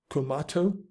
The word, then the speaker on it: Kumato: of tomatoes or tomatoes I've never heard of kumato tomatoes I guess it rhymes with tomato but there you go